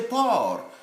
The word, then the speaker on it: porc: And so, por alone is silent C there. But when we come to the junction, it now becomes pronounceable, audible. For example, here we should say porc épic, porc épic. But just in isolation, it's le porc when you walk into a butchery.